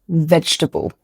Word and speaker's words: vegetable: Number 1, vegetable. Yes, there are 4 syllables in this word, but we don't pronounce all of them. Most native speakers will say vege-table, not vege-table.